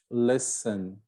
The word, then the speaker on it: listen: right knowledge no k listen no t so these are silent